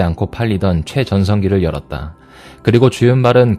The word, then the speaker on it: 주윤발: 외래어 표기법에 의한 표준 중국어 발음 표기는 서울음파, 사실 광동어 발음으로는 싸우윤뱃에 가까우나 한국에서 표기할 때는 중화권 인명의 외래어 표기법에 따라 표준 중국어 발음으로 표기한다.